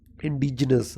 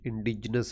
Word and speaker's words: indigenous: Indigenous, now it is indigenous here. Look at the spelling, indigenous, not here is e, not I. Indigenous, we pronounce with I, but spelling is with e.